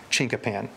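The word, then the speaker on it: chinkapin: the forest trees of oklahoma spelling this c-h-i-n-k-a-p-i-n chinka pen now if you go further back east and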